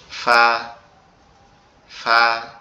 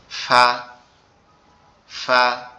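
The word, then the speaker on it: ف: ফাটা আমাদের জিহ্বার আগা। এই যে সরি আমাদের এই ঠোঁটের নরম জায়গা। ঠোঁটের পেট বলে এটা। এটা তো উপরের দুই দাঁতের সঙ্গে লাগবে। লেগে উচ্চারিত হবে। ফা ফা ফা আপনারা কি আমার কথা শুনতে এবং বুঝতে পারতেছেন?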